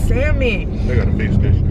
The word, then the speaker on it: salmon: but i don't is salmon they do look at this on them in the middle of it y'all yeah the l is silent i like mine just a